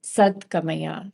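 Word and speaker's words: सद्गमय: many times in mantras when the words are blended together, the pronunciation of them changes. So here it's sad-gamaya.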